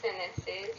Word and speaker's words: sentences: Very good sentences. यहाँ पे T silent है, एन टी का रूल के मुताबिक sentences. Okay.